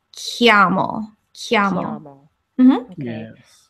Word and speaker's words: chiamo: Italian, it's confusing because the CH is kind of like a K sound. So so this word here is pronounced like chiamo.